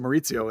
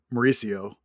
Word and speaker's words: Maurizio: At least I know to pronounce it Maurizio and not Mauricio.